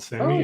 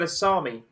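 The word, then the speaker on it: Sámi: like ethnicity is called sammy and they're more finnish than they are swedish i've always wanted to pronounce that asami but there you go i learned something it just depends on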